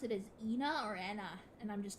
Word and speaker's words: ENA: begin with is because although the the um proper pronunciation is um Anna um the way it was first spoken by Moone in auction day was um Ena which may have been